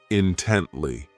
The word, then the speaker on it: intently: Next is intently. This adverb has 3 syllables, and the stress is on that second syllable, intently.